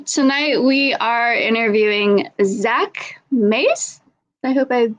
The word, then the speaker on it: Mais: you pronounced my name right. It's Mais.